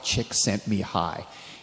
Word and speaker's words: Csikszentmihalyi: Now, finally, I know how to pronounce this young man's name. It's Mihai Csikszentmihalyi.